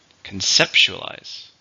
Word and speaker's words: conceptualize: a verb how many syllables conceptualize five stress on the second syllable conceptualize it's difficult to